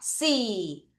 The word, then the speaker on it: see: 자, 이가 두 개 같이 있으면 길게 이 발음이죠? 첫 번째 보다 발음 어떻게 해요? see.